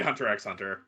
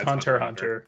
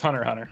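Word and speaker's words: Hunter × Hunter: Yeah, I say Hunter x Hunter, but yeah, it's Hunter Hunter. Yeah, Nerds. I know, I do it both. It I'm like is in my this head. whole time. Yeah, it's Hunter Hunter.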